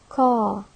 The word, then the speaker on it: car: It's written by 3 alphabetic letters C, A, R, while it is pronounced by only 2 phonemes car, car, K, A, and the R is not pronounced.